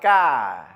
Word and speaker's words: car: In British English, there's not much emphasis on the R. It's very soft, very subtle, almost no R at all. It's more like ka. Whereas in American English, we emphasize the R.